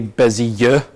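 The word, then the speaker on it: Bézier: A Bezier, and I had to look up like how to pronounce that pronunciation guideline before, and it's apparently Bezier. It sounds very French, but they're widely used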